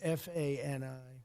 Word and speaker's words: Fani: She goes by the name of Fani, even though it's F-A-N-I. She wants it pronounced Fani.